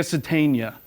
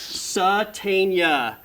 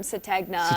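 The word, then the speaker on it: Sategna: Satania. There we go. I remember. G is silent. I remember when I first heard that name, everyone, even the coaches were calling him Satagna and everyone was like,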